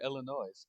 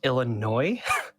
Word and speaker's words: Illinois: In my research, I came across a pretty funny story that was published in Newsweek back in October 2022 in Eureka, Illinois.